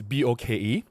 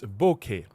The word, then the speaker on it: bokeh: So the addition of H is there to help the pronunciation. Instead of saying it's boke, it's bokeh, right?